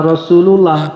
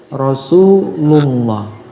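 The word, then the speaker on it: رسول الله: Contohnya Rasulullah ya tebal. Jangan Rasulullah, tapi Rasulullah.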